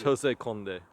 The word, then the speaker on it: José Condé: because I'm not sure which language I should pronounce it it's Jose K yes owner and wine maker of the uh